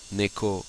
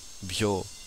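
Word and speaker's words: 猫: là, qui comporte 11 traits, qui peut être prononcé neko, byo ou myo.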